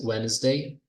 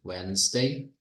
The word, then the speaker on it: Wednesday: Next Wednesday, não pronuncio, né, o D, Wednesday.